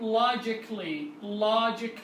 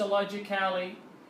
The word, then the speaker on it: logically: A will be silent and it will not be pronounced. Artistically وليس artistically, and the same logically وليس logically.